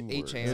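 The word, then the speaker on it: Achane: It's actually A-Chain.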